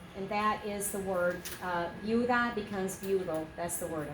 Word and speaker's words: viuda: Yeah, you have V-I-U, which is a syllable, and then you have D-A, which is a syllable. Okay, so 2 syllables. What do we have? Viuda. Viuda.